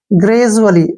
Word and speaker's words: gradually: और DU का उच्चारण यहाँ पे जय के रूप में करेंगे, ठीक है। डी से हो गया हमारा जय और यू से हो गया ऊ की मात्रा, ठीक है ना। ग्रेजू, क्या बन गया? ग्रेजू। ALLY का उच्चारण होगा, ए से हो गया ए और डबल एल से बन गया ले और वाई से हो गया ई की मात्रा। ग्रेजुअली, क्या पढ़ेंगे इसको? ग्रेजुअली।